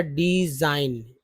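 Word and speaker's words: design: उसी तरह डिजाइन, इन साइलेंट, जी साइलेंट है।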